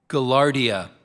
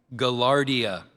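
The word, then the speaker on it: gaillardia: Poihoi is spelled P A H O E H O E. Galardia. Can you say the word again? Galardia.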